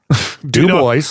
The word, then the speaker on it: Dubois: Dubois Dubois No, but it's like Dewboys. It's like D E W hyphen boys.